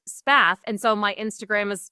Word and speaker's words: Spath: Spa, which is a happy coincidence that most people thought my channel's name was Path, but my last name is just Spath.